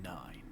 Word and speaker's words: IX: you can call me nine or what is it uh IX IX cool X it's pronounced nine nah nah I spelled